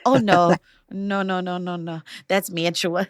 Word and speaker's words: Mantua: Okay, the word is Mantua. Nicole, how do you say that word? I say that Mantua. Conrad? Yeah, Mantua. That's right. Ding, ding, ding. There's no like official thing, but yeah, Mantua.